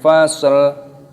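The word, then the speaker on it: فصل: Fasl ketika berhenti, ketika waqaf dibaca innahu laqaulun fasl.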